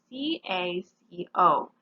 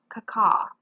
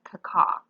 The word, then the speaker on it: caco: Our prefix is the prefix C-A-C-O. In words, it's pronounced caca, okay? So it might look like caco or something like that, but in words, we're going to pronounce it caca.